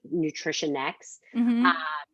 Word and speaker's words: Nutritionix: my clients is nutritionix so you pronounce it nutrition nutrition x but it's actually a